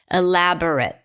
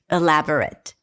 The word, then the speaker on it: elaborate: Elaborate. How many schwas do we have here? elaborate. Berate. Very good. Two.